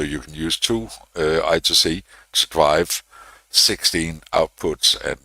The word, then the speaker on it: I2C: Again pronunciation I call it I2C. Uh you can argue all you like. I'm not going to change to I square C. Uh I call it I TOC.